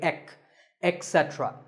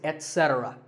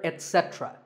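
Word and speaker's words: etc.: number three is etc a very common in correct pronunciation is to say ech etc instead of it don't say that and also remember that the stress is unset so the word is etc you will also hear etc that is less common but it's okay too next up is often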